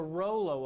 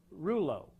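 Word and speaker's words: rouleaux: inefficient to some degree that's the rollo effect or reuleaux depending on what part of the world you're from the pronunciation varies but at the end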